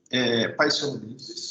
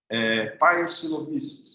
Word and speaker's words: Paecilomyces: Pocônia e Paecilomyces são dois gêneros de bactéria.